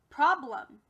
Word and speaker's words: problem: for the real word problem now my friends you'll notice that this changed from e to uh we call that a schwa it's a schwa because it doesn't sound like it's normal short or long e self instead